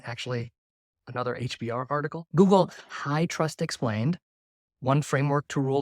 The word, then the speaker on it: HITRUST: Google High Trust Explained, one framework to rule them all. High Trust is spelled HITRUST, and I'll spell it again in the post description.